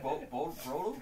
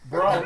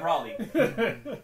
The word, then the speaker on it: Broly: Isn't it Broly? How dare Brawley. You talking about Brawley? Yeah, Broly. So he's fighting against Broly, and he goes Super Saiyan God, but Broly does it too.